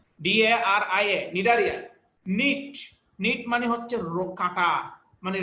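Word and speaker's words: Cnidaria: নিডারিয়া জিনিসটা হলো তোমার সি দিয়ে শুরু, CNI, হ্যাঁ, বানানটা হচ্ছে CNIDIA, নিডারিয়া।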